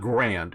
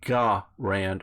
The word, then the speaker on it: Garand: is becoming more popular which is actually I guess how you pronounce the guys name it's not grand it's either gah rant or guerre written but there's a ga